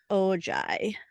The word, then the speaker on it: Ojai: Ojai. Yes, it is spelled Ojai. It's like Ojai.